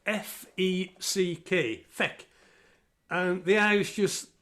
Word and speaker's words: feck: It's spelled F-E-C-K, feck.